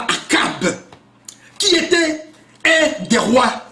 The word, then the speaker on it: Achab: Eh bien, il y a ceux qui l'appellent Achab, ce qui n'est pas faux, selon la prononciation des versions. Mais ici, nous l'appelons le roi Akab, qui était un des rois d'Israël.